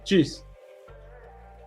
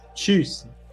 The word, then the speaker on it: Tschüss: Tschüss. Cheers. Tschüss.